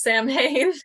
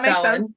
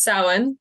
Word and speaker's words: Samhain: First of all, it's not pronounced Samhain. Excellent. I'm so glad that me and the show could do that incorrectly for the last hour. It's Celtic. It's Gaelic, so it's pronounced Samhain. It's pronounced Samhain. Well, there's a few different ways to pronounce it, but the one I chose was Samhain.